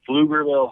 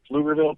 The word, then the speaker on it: Pflugerville: I live in Austin, Texas, greatest city in the world, and I currently teach at a school called Pflugerville High School. That's spelled with a P-F, Pflugerville.